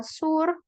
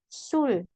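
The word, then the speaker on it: 술: Mal ya Mal oke yang ini juga bukan dibaca Sur tapi Sul Oke Sul Ma Sul Ma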